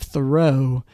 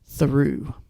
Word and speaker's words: Theroux: for a while now, that it's a French name, and instead of Theroux, it is pronounced Theroux.